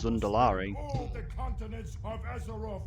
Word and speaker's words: Zandalari: It's the Zundalari. Like, how can we deny when there's like, it's literally pronounced in game as Zundalari?